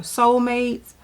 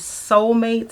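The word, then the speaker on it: Solmates: that is not beauty is these socks from Soulmates.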